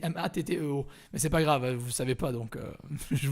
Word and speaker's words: Matteo: Salut Mathéo. Il y a quelqu'un qui t'a dit salut Mathéo. Oula, vous l'avez détruit son nom. Alors son nom s'écrit Matteo. C'est à l'italienne, c'est Matteo.